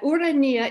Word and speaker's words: Urania: muse of astronomy she that urania is the classical greek pronunciation here she is in